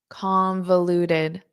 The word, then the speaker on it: convoluted: Convoluted. So notice that O in the middle is an unstressed.